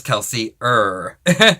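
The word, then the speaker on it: Kelsier: is going to be keler or if you're American keler we pronounce our e's at the end of words in Australia as an a sound rather than the American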